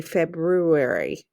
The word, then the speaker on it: February: a short e b now the r is silent so i'm going to cross it out and long u fab